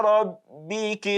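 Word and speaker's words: رَبِّكِ: Then ila rabbiki. The reason for this tafkhim is because it is carrying fatha.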